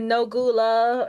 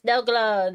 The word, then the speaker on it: Nogla: I think I said Nogula or Nogla, Nogula, Nogluglu, or something like that. He's like, "It's Nogla, Nogla, Noglugglug."